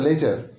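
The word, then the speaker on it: later: এখানে একটা ব্যাপার পরিষ্কার করে রাখি, এলএটি আর ল্যাটার নয়, ওটা লেটার। লেটার লেটেস্ট, অনেকে এটা ভুল উচ্চারণ করেন। এলইটিটি ইয়ার লেটার চিঠি বা অক্ষর, এলএটি ইয়ার এটা ল্যাটার নয়, এটা হচ্ছে লেটার।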